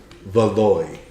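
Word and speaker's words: Valois: Together say her name again Elanor Elanor de valoy v a l o i s oh yeah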